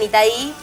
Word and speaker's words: Itai: qué jugaba Itay.